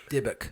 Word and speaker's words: dybbuk: But how do you pronounce it? Dybbuk.